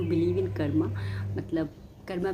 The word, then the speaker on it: कर्म: और सही इसका मतलब सही उच्चारण करें या सही प्रोनाउंसिएशन करें तो इसका सही तरीके से इसको कर्म ही बोला जाता है, कर्मा नहीं बोला जाता।